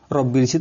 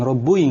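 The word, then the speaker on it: رَبِّي: itu pasangannya apa kasroh sehingga dibaca Robbi bukan Robbi Bukan robbuih nggak boleh lagi cerita tentang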